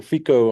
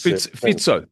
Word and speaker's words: Fico: No, I I watched the whole interview between the two of them and uh Robert Fiscoco or Fico, I'm not sure how you pronounce his Fitzo Fitzo Fitzo Robert Fitzo specifically hinted at